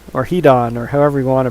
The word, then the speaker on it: Hidon: want to pronounce that I think it's supposed to be pronounced hidden because strago says something about that being at as its name suggests it's hidden and hard to find he said have its